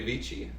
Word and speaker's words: Vici: Veni Vidi Vici. Yes, but in Latin, in classical Latin, the V is pronounced like a W.